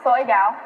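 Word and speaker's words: 水饺: In Chinese, we call it soy gao. Soy gao.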